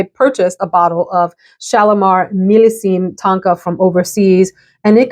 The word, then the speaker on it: Millésime: So I got a message on Mercari that someone had a bottle of Shalimar Millésime Tonka. I've been pronouncing it wrong and calling it Millésime.